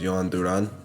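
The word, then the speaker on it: Jhoan Duran: I think the actual pronunciation is Johan Duran. I took Spanish, so I think that's what it is.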